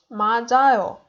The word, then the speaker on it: 맞아요: Here it's j, 맞아요.